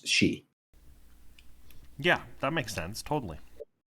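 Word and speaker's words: sidhe: it's spelled like that that's how you how you pronounce that word is she yeah that makes sense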